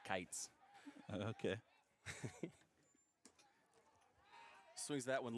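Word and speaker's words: Kietz: 1-1 When I first met Beau, I told him he he said his name wrong because it's k i e t z and he says it's Kites.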